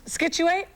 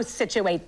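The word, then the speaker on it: Scituate: Do you know how to pronounce that Massachusetts town ski skituate? Oh, situate this. Situate Massachusetts. Situate.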